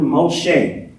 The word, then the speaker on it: Moshe: say this with me Moses pronouncing Hebrew Moshe Moses means to draw